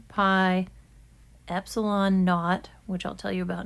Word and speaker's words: naught: engineering we use it usually pronounced that not n-a-u-g-h-t um and that's kind of because of the english language roots of electrical engineering not is a common thing in british english to call the letter the number zero and